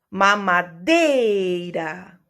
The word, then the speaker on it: mamadeira: Por exemplo, mamadeira. Qual é a sílaba tônica da palavra mamadeira? Mamadeira. Dei. Muito bem.